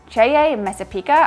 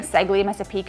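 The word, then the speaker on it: Ceglie Messapica: Next up, we have our favorite city in the whole region, Ceye Messapica. I think I'm pronouncing that right. I was saying Segli Messapica, and all the Italians were like, that doesn't exist.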